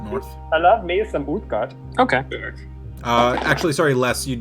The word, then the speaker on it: Uthgardt: Clearly you have not met the Uthgard before. Uthgard. Do any of us know that? Spell that.